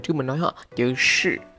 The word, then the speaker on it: 是: nói hả, chữ 是 phát âm là sh y ngắn không cong lưỡi phần đuôi, là cái giọng miền Nam. Còn miền Bắc là SH y ngắn R, là từ sợ, giọng miền Bắc.